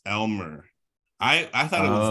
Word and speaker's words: lmer: when it's not generalist it's l-m-e-r it's Elmer I I thought it